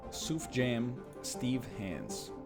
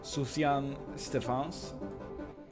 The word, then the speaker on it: Sufjan Stevens: Suf Jam Steve Hands. It's a good name. Sufjan Stevens.